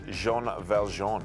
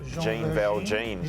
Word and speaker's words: Jean Valjean: race five Maddie for Jean Valjean or Jean Val jeans depending how you want to uh pronounce it but this horse